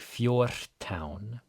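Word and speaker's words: fjórtán: This isn't like a really hard Fjortán. It is actually a D-voiced R. R before T is D-voiced. We can talk about that a bit more in another video, but it should sound like Fjortán.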